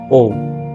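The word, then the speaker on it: を: again I am repeating it is spelled as डब्लू ओ बट आप उसको क्या बोलेंगे प्रोनाउंस करेंगे वो ओ ओ ओके ओ तो इस तरह से प्रोनाउंस करेंगे डब्लू ओ स्पेल करेंगे बट ओ प्रोनाउंस करेंगे तो इसके बारे में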